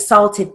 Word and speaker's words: salt: He ate 68 salted peanuts, period. Salt is a broad A.